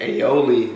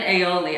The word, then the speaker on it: aioli: was making fun of me earlier because i pronounced this wrong how do you say it aioli lemon aioli i don't know what i said earlier ally